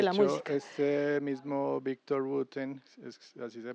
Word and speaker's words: Victor Wooten: este mismo Victor Wooten, así se pronuncia, él tiene un video donde está literal